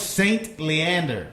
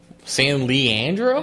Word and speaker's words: St. Leander: Why do you say it like that? St. Leander? Oh, it's St. Leander. That's the name of the saint. I thought you were saying San Leandro. San Leandro?